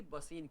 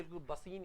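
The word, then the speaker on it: Bassein: एक संधि भी थी, बसीन की संधि, इसको बसई बोलते हैं मराठी में, बसई गांव हुआ करता था, और वैसे ही बसीन या बेसिन बोल देते हैं।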